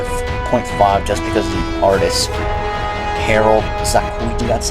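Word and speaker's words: Harold Sakuishi: 3.5 for an extra 0.5 just because the artist Harold Sakuichi, that's how you pronounce it, progress art overall, and it would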